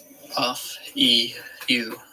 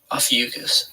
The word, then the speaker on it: Ophiuchus: Ophiuchus. Ophiuchus. Ophiuchus.